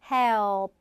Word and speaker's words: help: help. 이런 식으로 어가 길어진 사운드일 뿐 결코 밑에 리을 받침은 들어가지 않는다.